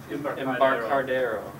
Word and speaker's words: Embarcadero: They're looking for a new coder, so if you know somebody who's good with Borland's Code Gear, Embarcadero. How do you pronounce that? Embarcadero.